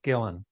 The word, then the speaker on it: Guillén: And I thought to myself, well, you know, a Gui-en might be a hard thing for them to pronounce or remember. So I I said to the producers, "Ah, let's just go with Guillain."